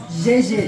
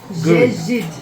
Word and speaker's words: جيد: Jejid. جيد. Jejid.